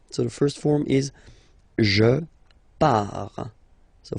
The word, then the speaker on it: pars: Okay, so the first form is je pars, so final S not pronounced, je pars.